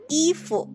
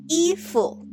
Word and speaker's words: 衣服: Please note that the word or character 服 is in the second tone, but rarely we call our clothing items 衣服. Usually we'll just give it a light tone. 衣服.